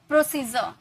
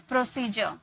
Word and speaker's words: प्रोसीजर: जैसे प्रोसीजर यहां पे आपको दिख रहा होगा डी के बाद यू आर इ है। तो इसे हम क्या में प्रोनाउंस किए? ज में है ना ज प्रोसीजर सोल्जर।